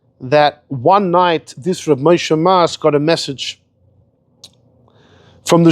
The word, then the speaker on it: Moshe Mas: Why is he called Moshe Mas? It's spelled Mem Sof, Moshe Mace.